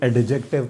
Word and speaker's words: adjective: एडजेक्टिव, अच्छा इसमें डी नहीं पढ़ा जाता, कुछ लोग इसको एडजेक्टिव पढ़ रहे होते हैं, ठीक है। सो इट is pronounced एडजेक्टिव। ये क्या होता है?